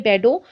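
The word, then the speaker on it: Bordeaux: तो जो French merchants थे वो दूर दूर इलाकों में, स्पेशली जो आपके इलाके यहाँ पे मेंशन किए बेडो और नॉन्ट, ठीक है, इसको इसी तरह से प्रोनाउंस करते हैं इन वर्ड्स को, और आप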